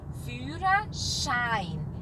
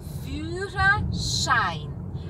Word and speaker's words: Führerschein: Um som de X. Führerschein. E I, som de A, I sempre. E o artigo é der. Der Führerschein.